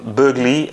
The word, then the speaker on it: Boegli: I forgot everything since then, but I was fluent, and I think that Boegli or is pronounced Burgley.